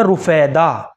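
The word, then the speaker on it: رُفیدہ: پہلا نام ہے رفیدہ، را کے اوپر پیش کے ساتھ رفیدہ. یہ ایک صحابیہ کا اسم گرامی ہے را کے اوپر پیش کے ساتھ، اور یہ معالجہ تھی.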